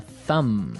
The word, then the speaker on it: thumb: Do you say the B at the end of this word? No, I actually only pronounce the M, the Yes.